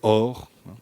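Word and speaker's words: אור: Montre-moi le le mot hébreu or c'est comme ça que ça se prononce.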